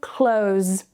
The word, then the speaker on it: clothes: If you find it tricky, you can remove the TH and just say clothes, clothes.